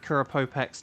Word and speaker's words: Kurapopex: I am going to add Kurapopex to the spreadsheet in the meantime. Kurapopex. It rhymes with flex.